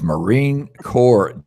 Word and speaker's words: Marine Corps: selecting the side of the head go it's Marine Corps Jeremy not well he knows he's headed to